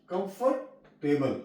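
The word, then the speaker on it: comfortable: गल होगा कैथलिक कम कंफ कंफर कंफ टेबल कंफर्टेबल य ओ साइलेंट है जब आगे आ जाएगा प जब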